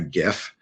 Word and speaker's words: GIF: a JPEG or a a GIF with a hard G.